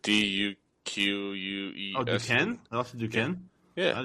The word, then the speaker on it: Duquesne: Oh, Duquesne.